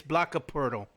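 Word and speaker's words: Jakob Poeltl: next to Jay Jonte damar LA and yes yokka Pirtle back of the starting five there's i you say his name right it's block of Pirtle he he was starting five the Spurs are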